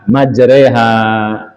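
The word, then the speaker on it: مَجْرٰىهَا: Kadang-kadang dia enggak enggak persis seperti yang tertulis seperti bismillahi majreha. Bacanya majroha tapi apa tulisannya? Majroha. Kita baca majreha.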